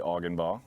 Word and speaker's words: Augenbaugh: my name is augenbaugh uh i'm a manager you didn't want to say organ ball right it's exactly as it sounds and it's spelled so in my day